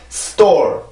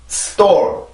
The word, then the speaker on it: store: 여기에서 S 발음이 전혀 길어질 이유가 없습니다. 맞죠? 위치상으로도 그렇고 여기에 모음 강세도 없기 때문에 빠르게 발음을 하고 T로 넘어가 주는 거예요. 그래서 st 이렇게 발음이 되고 그 다음에 여기 있는 모음들을 발음을 해주면 되죠. 그죠? 이렇게 발음을 해요.